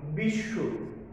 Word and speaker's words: বিশ্ব: এরকম ভাবে বিশ্ব, দেখো তালব্য যোগ বফলা, এই জন্য দুইবার তালব্য হয়েছে। আর আমরা অধ্বনি যে উচ্চারণ আমরা বিধি পড়েছি, অর্থাৎ সংবৃত অ এর উচ্চারণ, সেখানে কিন্তু আমাদের ওই যে অযোগ যদি বফলা থাকে তাহলে ও ক্রান্ত হয়, এই জন্য তালব্য ও ক্রান্ত হয়ে গেছে। বিশ্ব, বিশ্ব নয়, বিশ্ব।